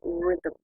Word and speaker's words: rhythm: So, all music has its own rhythm. This is a very strange word. Look at the spelling. R-H-Y-T-H-M. There are no vowels. So the pronunciation is a little, well, the pronunciation is actually fairly simple.